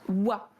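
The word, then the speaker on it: は: ça c'est le chiracana qui se prononce dans les h mais elle se prononce wa là il y a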